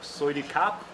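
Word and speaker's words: สวัสดีค่ะ: Soidi kap?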